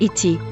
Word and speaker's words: ate: The preterimperfect tense of it is sometimes written ate, particularly by Lord Bolingbroke, and frequently, and, perhaps, more correctly, pronounced et, especially in Ireland, but eaten always preserved the e long.